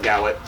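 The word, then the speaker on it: Gawit: my last name is it's about g-a-w-i-t nobody knows how to pronounce it I get it okay I get I get gay wit I get everything but gowit all right so I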